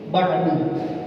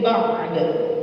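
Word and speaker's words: بعد: Kadang-kadang kan orang ada yang bacanya ba'du, tapi ada yang pengennya nggak baca ba'du, pengen disukunin, cuman salahnya bacanya salah. Cuman bacanya min syai'in da'nya nggak ada. Mestinya min syai'in ba'da. Mesti begitu.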